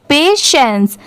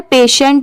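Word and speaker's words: patience: S kind हैसर पेशेंस बहुत सारे लोग इसे गलत प्रोनाउंस करते हैं बट इसकी सही प्रोनंसिएशन क्या है पेशेंस यहां पर पेशेंट नहीं पढ़ेंगे पेशेंस यहां पर पी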